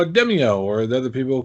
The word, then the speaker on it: Demeo: to pronounce it right even though they themselves pronounce it as ad in their official strainers so right so let's stick with demio yes okay granted that was with a british